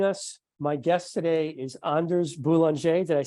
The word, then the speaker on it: Anders Boulanger: you just joining us my guest today is Anders boulanger did I say that correctly you did yeah